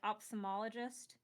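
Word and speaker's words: ophthalmologist: We just say kind of like opthalmologist, but technically there's a ph and then a th right next to each other, but nobody pronounces those sounds separately because it's just that's just setting yourself up for failure.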